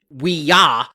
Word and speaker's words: Ouija: how you do it it's two syllables and the first one is we and then you can go J or you can go g and the reason why